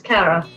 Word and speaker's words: Caragh: i made it well done no did i pronounce it correctly you did yes cara fantastic cara awesome so uh welcome to uh